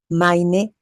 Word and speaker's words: meine: Aquí digo mein Wagen y aquí digo meine Puppe. Con E. Meine. Meine. La EI se pronuncia AI.